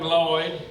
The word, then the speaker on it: Lloyd: We just call him Lloyd. He goes by Lloyd. The first L is silent. Okay? Y'all don't be that first person walks up to him and goes, "Hey, Lloyd."